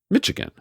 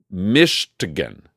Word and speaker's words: Michigan: snitch so to start it seems I've been mispronouncing Kareem's home state of Michigan how do you say it Kareem Michigan right that's what I'm saying Michigan migan Michigan mishigan Michigan mishigan okay I'm